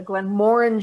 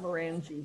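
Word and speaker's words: Glenmorangie: good time on the glen moring tasting last week i'm finally pronouncing it correctly not merengie right and of course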